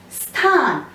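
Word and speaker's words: स्थान: You're just touching the word s. You're not pronouncing it fully as s. It is sthan.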